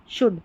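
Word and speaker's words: should: यहां पर ओ यू का जो है उच्चारण होता है और इसमें जो एल आता है इन स्पेलिंग्स में यह साइलेंट रहता है। इन इस एल का उच्चारण नहीं होता है।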